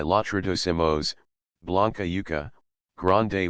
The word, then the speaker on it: yuca: la penúltima luenga, y la raíz yuca, luenga la primera sílaba, y la planta yucubia.